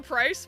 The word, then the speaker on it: Pryce: It's because his name rhymes with ice. Pryce got the best redesign.